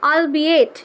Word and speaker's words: albeit: সো এই যে বললাম, এই যে উচ্চারণটা ALBEIT, আলবিয়েট, ঠিক আছে। বলছে যে সো আলবিয়েট আনউইলিংলি, বলছে আনউইলিংলি মানে আলবেইট মানে হচ্ছে অলদো, যদিও অনিচ্ছাকৃত, আই উইল সিট